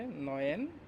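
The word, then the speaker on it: neun: এইটকে বলে হচ্ছে আক্ট, আক্ট, এটা আক্ট, উচ্চারণ হচ্ছে আক্ট। নাইনকে বলে হচ্ছে নয়েন।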